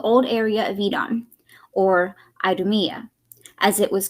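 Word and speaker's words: Idumea: south including the old area of edon or aydumiyah as it was called in new testament times in case i mispronounced that edom is e-d-o-m is i-d-u-m-e-a its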